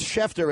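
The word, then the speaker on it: Schefter: like Nick Franklin says shefter is a silent sea no it's not when the letters SCH are placed together they are pronounced with that so yeah it's appropriate it's an appropriate pronoun if there was no C it would be pronounced the same way correct but that means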